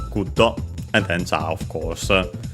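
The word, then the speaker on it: グッド: Guddo from English, good. Lucky accent just like in English. So on the first syllable, guddo, and then ja, of course.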